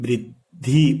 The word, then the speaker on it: वृद्धि: अब जो स्वर है ई का उच्चारण ध के साथ हो रहा है, न कि द के साथ, तो वृद्धि। ये ध्यान रखना है, ये ध पूरा है, द आधा है।